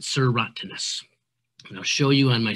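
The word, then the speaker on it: serotinous: tree has cones that are called serotoninous that's how we pronounce it sir rottenness i'll show you on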